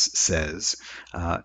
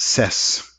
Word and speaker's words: says: that is of course when we pronounce it as says not sess it's voiced by byes alright not